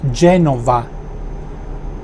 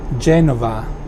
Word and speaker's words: Genova: In Italian it's Genova with a V. Genova.